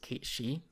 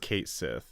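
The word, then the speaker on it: Cait Sith: to forgive me but I'm pretty sure the pronunciation is Kate she I always thought I was just Kate Sethe but you might say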